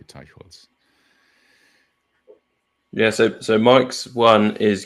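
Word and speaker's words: Teicholz: I don't know how she pronounces it, but in German you would say Teichholz.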